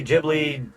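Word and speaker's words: Ghibli: Some people say Giblly. Gibli, whatever they want to say. I'm so I say Giblly. I'm so sorry if like anybody else pronounces that a different way. Apologies in advance. That's just how I say it.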